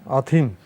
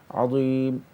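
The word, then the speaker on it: عظيم: টি এইচ ডব্লিউ এন না না শুদ্ধ নাই শুদ্ধ আথিম না আজিম আজিম যাই হোক মানে এটা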